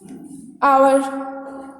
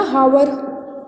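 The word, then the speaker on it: hour: आवर, एच से तो नहीं लग रहा ना. हावर, हावर तो नहीं बोल रहे आप, क्या बोल रहे हो? आवर. तो किससे स्टार्ट हो रहा है? ओ से. एच आपका क्या है? साइलेंट हो जाता है.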